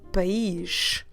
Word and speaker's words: país: So first, the word for country is the word país. País. Let me spell it for you. P-A-I, but this E has an accent to the right. So P-A-I com acento S. País.